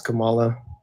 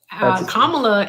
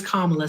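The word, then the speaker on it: Kamala: What reform has Camala proposed? Kamla and it's Kamla. Say her name correctly or you can just say Harris. There's there's no difference. Kamla.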